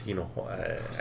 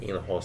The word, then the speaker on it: Hinojosa: It's Hinojosa. I can't say. So, is it Hinojosa? Right? The H is silent, so it's like Hinojosa.